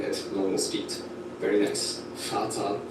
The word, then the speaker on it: Vater: Vater, Volk, vielleicht. Vater, Volk, vielleicht. Let's say each one slowly, then at normal speed. Very nice. Vater, Volk, vielleicht. It's not like a V, it's like an F.